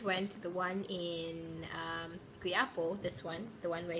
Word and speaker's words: Quiapo: See, this is how you pronounce it. Q-U-I-A-P-O. Q-U-A-I-P-O. Can you read it? I'm not sure. Okay, so that's Quiapo.